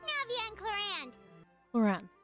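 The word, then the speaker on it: Clorinde: Cloran. So that's how you pronounce the name.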